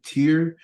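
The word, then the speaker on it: Tyer: use my name because it's actually tear it's spelled t-y-e-r let me try to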